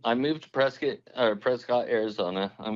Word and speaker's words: Prescott: moved to Prescot or Prescott Arizona and we call them Prescot pres is that's the local pronunciation yeah uh so we